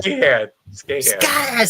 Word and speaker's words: Skahan: Scan. No, that's not an H. That's a K. Scan. I said it wrong the whole time.